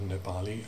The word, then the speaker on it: Nepali: i am professor of nepali and himalayan studies at soas now note those pronunciations don't you mean nepali people sometimes say don't you mean himalayan no i reply it's nepal not nepal and himalayan not himalayan anyway